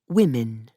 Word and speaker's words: women: Woman, weefman, weeman, Saxon, whence we yet pronounce women in the plural, women.